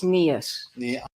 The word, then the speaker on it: Niehus: you put everything down it's nias yes she will correct everyone about the pronunciation of her name including the judge so let's called her